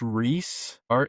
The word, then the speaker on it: Rhys: They've signed, I believe it's pronounced Reese, Rhys, but I think it's pronounced Reese.